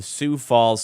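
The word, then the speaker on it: Sioux Falls: of Malik Williams he played for the The soue Falls Sky Force as I now know it's pronounced in the G League got signed in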